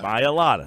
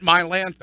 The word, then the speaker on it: Mailata: But Mailata. There you go. Not Mailata.